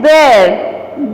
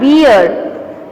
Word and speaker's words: bear: Yes, it's bear. Bear. It is not beer. Don't pronounce it as beer, it's bear.